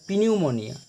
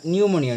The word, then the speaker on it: pneumonia: তো এটাকে আমরা যদি উচ্চারণ করি তাহলে এটা উচ্চারণ এরকম হয়, পিনিউমোনিয়া, কিন্তু গ্রিক শব্দে পি এর উচ্চারণ হয় না, তাই এর উচ্চারণ হবে নিউমোনিয়া। You will have নিউমোনিয়া, নিউমোনিয়া একটা অসুখ, কিন্তু তোমার নিউমোনিয়া হতে পারে।